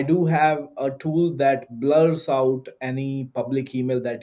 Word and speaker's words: Blure: emails what's the name of that yeah that's blur emails how do you spell it blur b l u r e blur